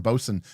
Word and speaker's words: boatswain: I've heard the term bosun, bosun's mate many times. I never really put two and two together that it was spelled boatswain, but yes, Bolin knot would